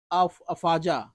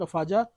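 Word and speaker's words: Afadjato: peak इसका है mount अफजा ठीक है डी इसका साइलेंट होगा माउंट अफजा नदियां कौन कौन सी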